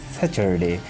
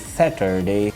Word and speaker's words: Saturday: The next word is Saturday, which is oftenly mispronounced like Saturday, but the correct pronunciation of the word is Saturday. It's ta sound here, not the cha. You will have to pronounce it like Saturday, not Saturday.